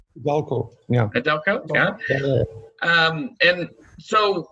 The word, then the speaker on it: iDalko: Frances Martin is a co-owner of and I'll have you pronounce the name. It's iDalko, correct? iDalko, yeah.